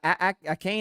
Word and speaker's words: Achane: Is it Devon Achane? Achane, I think is how you say his last name.